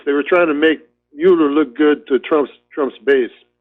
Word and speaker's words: Mueller: It's the guy, Mueller, another guy, nobody knows how to pronounce his name. It's Mueller, but everybody calls him Mueller.